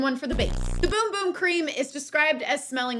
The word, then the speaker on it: Bum Bum: so de Janeiro's Brazilian boom boom cream which is not pronounced bum bum it's pronounced Boom Boom at least that's what